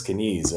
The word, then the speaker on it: skinese: So first of all, you pronounced it perfectly. It is skinese, and it's a language